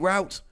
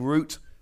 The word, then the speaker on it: route: And I know Americans say Escape Route, and I'm cool with that, but I'm afraid I am British and I am going to be saying Route. Please don't be offended.